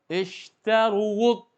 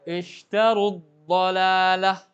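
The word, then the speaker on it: اشتروا الضلالة: Kalau wawnya itu dipaksa juga dengan dhammah, berubah gara-gara ketemu dengan hamzah wasal. Ishtaruwud. Ini tidak dibenarkan dalam kaidah orang Arab. Kenapa? Bahasa Arab itu bahasa yang mudah. Jadi, gimana cara bacanya? Kalau sana ishtaru. Ya, ishtarud dhalalah. Langsung wawnya diidghamkan. Jadi seakan-akan tidak ada panjang lagi wawnya.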